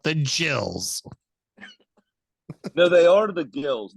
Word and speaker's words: Gills: the gills not the jills no they are the gills that's the difference because they're the gills except their name is pronounced Jil the other way around